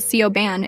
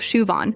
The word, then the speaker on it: Siobhan: There's Siobhan, who gets called Sioban instead of Shuan.